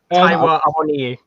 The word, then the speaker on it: Awoniyi: Awoniyi.